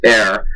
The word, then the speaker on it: ere: one most important thing EERE pronounced air means before this is